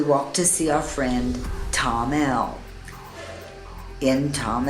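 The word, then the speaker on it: Thamel: please don't call it sam'l we went to see Tom L to find some trekking supply stores just remember th am e l is pronounced Tom them they don't pronounce the th for most workers in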